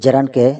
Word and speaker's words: gerund: আজকে জেরান্ড নিয়ে কথাবার্তা হবে। আমরা অনেকেই জেরান্ডকে জিরান্ড হিসেবে উচ্চারণ করে থাকি। তবে সঠিক উচ্চারণ হচ্ছে জেরান্ড।